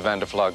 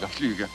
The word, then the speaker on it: Van der Fluge: And you are in the flower business, Mr. Van der Flug. Fluge. Pardon? Fluge. Van der Fluge. Rhymes with tulips, which coincidentally is what I sell.